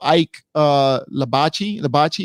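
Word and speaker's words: Ike Ibeabuchi: So Sheik says also Ike Labachi, is how you say it, would knock out Wilder as well.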